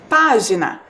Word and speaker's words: página: a palavra sorteada foi página percebam lá página a sílaba mais forte também é a antepenúltima a sílaba P então percebam lá de